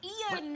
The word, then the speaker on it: Ian: No, it's two syllables. Ian.